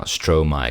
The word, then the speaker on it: Stromae: Stro my cuz it's my stro reversed or like the syllables swapped.